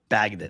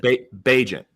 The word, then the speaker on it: Bagent: Is it Tyson Bagdon. Bagent. Bagent, is how you say it.